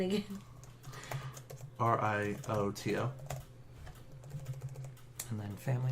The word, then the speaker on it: Rioto: Rioto. R-I-O-T-O. Rioto? Of the Scorpion? Oh, shit. Need to write this down. Okay. Oh, right, yeah. All right. So, spelling again. R-I-O-T-O.